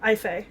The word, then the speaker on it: Aoife: she had a sister i fee yes which is spelled aoife but i believe the proper gaelic pronunciation for that is ife um like a-y-f-y or a-y-f-i or something like that um which i really